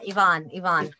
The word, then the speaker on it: Yvonne: I mean, I think Yvonne, am I pronouncing that right? Yvonne, is it Yvonne? Yeah, Yvonne, yeah.